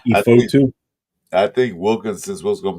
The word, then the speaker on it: Fotu: Remember, think of photo, but Fotu. Lucky Fotu, not Lucky Fotu.